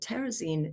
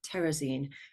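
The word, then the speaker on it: Terezín: in German it's called terraine in Czech and I will often call it terrazine because the Czech speaking survivors that we worked with mostly call it terraine terine had a few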